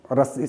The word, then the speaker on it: ऋ: री, इसका उच्चारण हम ऐसा करते हैं।